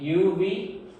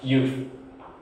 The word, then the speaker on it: you've: You say UV? No. It should be pronounced you have. And so it should be pronounced like you've.